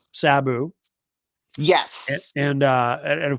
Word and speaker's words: Sabu: Is it Sabu or Sab? I keep hearing it pronounced both ways. Sabu. Sabu. Sabu. I mean I'm tempted to say potato, but I don't want to seem disrespectful. So I will honor the pronunciation that uh you have designated as being correct.